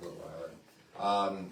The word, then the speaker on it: Littweiler: It's a long eye, it's spelled wrong, Littweiler.